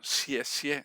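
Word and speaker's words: 谢谢: decir gracias se dice en chino xie xie se escribe con xx x y se repite la palabra la última lleva un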